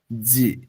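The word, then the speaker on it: ぢ: তেন দিলে হয় জি এটা নরমালি ডি আই হ্যাঁ কিন্তু এটার উচ্চারণ হবে জি এটা হচ্ছে শুধু জি আর এটার উচ্চারণ যখন আমরা করতেছি তখন ডি জেড আই জি মানে জি বা আটকে যাচ্ছে জি উচ্চারণ করতে হ্যাঁ এরপর ডি ইউ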